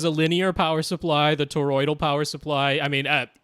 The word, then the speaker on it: toroidal: but the branch gets at or old or toroidal transformer I said it right and the den